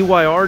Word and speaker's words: Ire: watch uh coach rage so the eyr division man higher division higher division so iron eyr yeah engage yeah yeah pronounce like higher don't use anger right